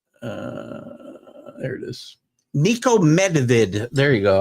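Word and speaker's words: Medved: Nico Medvid. There you go. I always leave out the D. Nikico Medvid.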